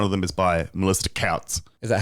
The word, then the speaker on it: Tkautz: That's how, well, how would you suggest one pronounces Tkautz? Couts. TK. Does the head tilt back? The head tilt, it's definitely part of it. Okay.